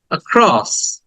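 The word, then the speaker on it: across: এটাকে একটু স্ট্রেস দিব আক্রস আক্রস এই আ টাকে আবার টেনে বলা যাবে না অনেক দীর্ঘক্ষণ বলা যাবে না তাহলে ভুল হবে এটাকে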